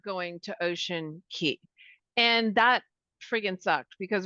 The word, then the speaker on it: Ocean Cay: So we're the next day we were day 5, we're supposed to be in Ocean Key, which is spelled Ocean Cay.